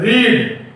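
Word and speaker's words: read: देना है, उसके बाद पढ़ना का तीसरा रूप क्या होता है रेड, लेकिन लिखाता है रीड, लेकिन इसको पढ़ना है रेड, ये याद रखना। The spelling would be same but it will be रेड, रेड रेड।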